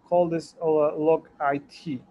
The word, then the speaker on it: logit: it in logarithm scale, we call this log it or logit, depending on how you read it. These are the two concepts that two different pronunciation of the same concept.